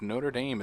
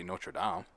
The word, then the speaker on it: Notre Dame: Americans pronounce the school Notre Dame. Notre Dame. They pronounce the place Notre Dame.